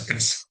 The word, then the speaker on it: caza: The casa and caza are homophones, and they are both pronounced as casa.